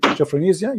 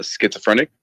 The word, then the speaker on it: schizophrenic: will not accept him because he had what japhenisia you said that right i don't know how to say correctly say it again please how do you say that word uh schizophrenic schizophrenic okay that's that's a big quote for